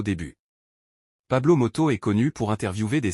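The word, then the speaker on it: Pablo Motos: l'animate de l'émission est Pablo moto pas matamoro ou matamoto comme je l'avais mal prononcé au début Pablo moto est connu pour interviewer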